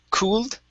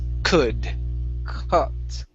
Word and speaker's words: could: Remember, the L is silent. Instead of saying cooled, it's could.